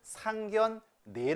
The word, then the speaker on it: 상견례: 앞에 있는 거치면서 어떻게 안나와있네요 자 그런데 얘는 상 견 네 라고 발음 하게 맞습니다 표준 발음법 5절 음의 동아